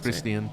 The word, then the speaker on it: Christian: easier cuz you get Ian that's Christian if you pronounce it the proper way yeah but I'm not going to I prefer I say Chris chin I know but I prefer it when people pronounce it chrisan no yeah cuz then it ryes with glacian and I love that